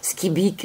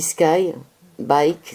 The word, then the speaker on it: Skybyk: Skibik, ça s'écrit Skybyk. Moi j'aurais dit Sky, bike, c'est-à-dire quelqu'un qui fait du vélo dans le ciel, mais non, c'est pas ça du tout.